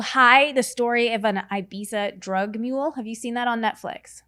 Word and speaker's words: Ibiza: Well, because in Spain, the Z is a TH. So these people are from Ireland, and they all call it Ibiza. Ibiza. That's and I'm how, like, if you're over there, that's how they say it.